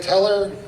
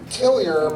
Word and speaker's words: Teller: to last speaker, Teller. We pronounce it Tillier, but you guys are okay, you can pronounce it that way.